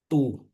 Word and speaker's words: du: Misalnya aku kasih D sama U. Dibacanya jadi tu.